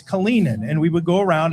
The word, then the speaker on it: Kalinin: It's not Kalinin, as Lindy would say, it's Kalinin.